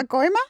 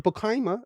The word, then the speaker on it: Pacoima: Yeah, you can go to Pacoima. No, what'd you say? Pacoima. You saying it better though. Say how you said the first time. Pacoima. You didn't say it like that. No, you didn't say that. You said like Pacoima or something. Pacoima. Yeah, there you go. That's what you said. You said Pacoima. That sounds like a Dominican girl.